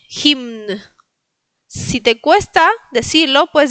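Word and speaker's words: hymn: el último es un poquito más complicado, es himn. Himn. Recuerden que tienen que pronunciar todas las las letras. Entonces, eh, los polacos pronuncian absolutamente todas las letras. Entonces, se pronuncia la m y la n. Himn.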